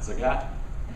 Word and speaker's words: Zayat: It rhymes with the cat, Zayat.